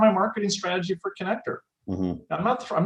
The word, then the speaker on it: Conneqtor: I don't want to pronounce it wrong, but. That's correct. Yeah, Conneqtor.